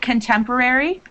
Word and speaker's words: contemporary: When it's in the middle of a word, make sure that you're still pronouncing the R sound. Like contemporary, when you said it,